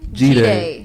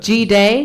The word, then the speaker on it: Jide: Jide. Yeah. G-Day? What's the G Like Jide. B-Day but G-Day? Yeah, exactly. Okay. That's how I pronounce Jide, yeah.